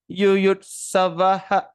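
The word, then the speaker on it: युयुत्सवः: So there's a silent. That means how are we going to? Samaveta yuyut savaha. But we are not going to pronounce the word A very clearly. But it's just like a sound coming out from the mouth.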